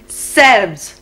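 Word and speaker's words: selves: pronunciation क्या हो जाएगा यहां हम बोलते हैं सेल्फ और वहां प्लूरल बनाते समय हम उसको बोलेंगे सेल्व्स S E L V E S shelf shelves काफ काव्स,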